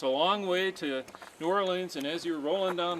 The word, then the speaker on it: New Orleans: but when I hit New Orleans or as locals say nor Orleans I thought I was